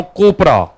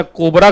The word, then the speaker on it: COPRA: अब कोपरा में कहीं गलती से प्रोनाउंस कोई बच्चा कोबरा कर दिया तो बच्चा पढ़ने के बजाय भाग ही जाएगा, है कि नहीं?